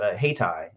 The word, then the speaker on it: Hayti: Hightower mentioned, is Haytai. It's spelled Hayti.